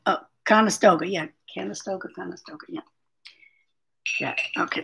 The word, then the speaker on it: Conestoga: Conestoga wagon. Conestoga, yeah, I think that's what you said. Oh, Conestoga, yeah.